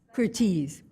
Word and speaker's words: Curtiz: Curtiz. That's how you pronounce it.